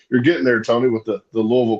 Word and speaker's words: Louisville: Right, Louisville. You're getting there, Tony, with the Louisville pronunciation.